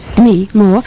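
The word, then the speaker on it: Demi Moore: De Moore. Is that how Barry says it, isn't it? No, that's how it's pronounced.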